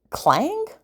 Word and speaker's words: Klang: we're going to be using clang that's how you say it in the fantasy